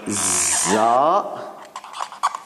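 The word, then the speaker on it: ز: And then we have Za, and that is Z in English, somehow close to it. Z, Za sound.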